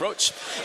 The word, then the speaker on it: Roche: But it's pronounced like the cock, Roche.